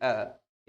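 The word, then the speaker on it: err: Alexander Pope ने टू ए टू ए is human to forgive divine, इस तरह से उच्चारण होता है इसका, टू ए is human to forgive divine.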